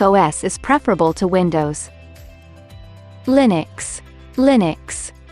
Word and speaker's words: Linux: Linux Linux pronounced Lin UX is a family of open-source